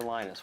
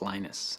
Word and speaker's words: Linus: Mina's Torvalds came along lent us her Linus which is exactly your preferred pronunciation when I speak Swedish and this when I speak Finnish it signals when I speak English its Linus and I really don't